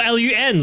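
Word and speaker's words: lune: In French, you don't pronounce the e at the end of loon. So, it's just lon or l u n lun.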